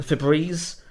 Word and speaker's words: Febreze: delightful multi-paste there's nothing wrong with that um Febreze um isn't Feb and then breezing that the